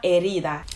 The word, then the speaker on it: herida: difficult to understand because she doesn't pronounce the word as it's actually pronounced. So she says ni una haría. It's supposed to mean ni una herida. Herida means wound in Spanish.